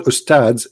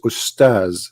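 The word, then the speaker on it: أستاذ: Even they don't know even how to say the word because the word Ustads is not correct in the way they say it. The word in Arabic is Ustaz, which means a master, teacher.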